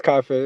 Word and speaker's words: Cafe: Nah, you say my name right. It's Cafe. It's Cafe.